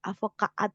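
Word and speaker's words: advocaat: lagi ya pabriek pabriek advokat ternyata dari bahasa Belanda ya advokat gitu kalau bahasa Belanda avokaat gitu ya bacanya Ya gitu ya Kemudian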